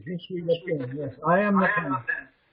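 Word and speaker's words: Je suis la plume: You don't pronounce the last E. Jesuis Laplume.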